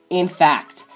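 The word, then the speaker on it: INFAQT: It's called In Fact, and it's spelled I-N-F-A-Q-T.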